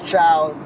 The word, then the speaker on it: Cao: night what's going on world my name is chow that's CAO please save all hangover movies jokes